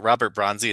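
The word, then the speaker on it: Robert Bronzi: Is it Robert Bronzy?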